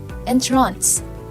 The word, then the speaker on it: entrance: The answer is entrance. It could be read with emphasis on the second syllable.